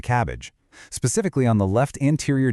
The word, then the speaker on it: CABG: They get admitted for an open coronary artery bypass graft, which you'll usually hear pronounced as a cabbage, specifically on the left anterior descending artery.